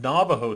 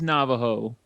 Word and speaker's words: Navajo: Although I've had Navajo tea, which is an herbal tea, and it's about as terrible as you can imagine.